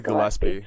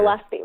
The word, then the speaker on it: Gillespie: It's probably Gillespie, like the trumpet player. Gillespie, right?